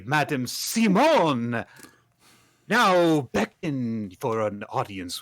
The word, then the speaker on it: Psymone: Her name is Madame Simone, which is spelled Psymone.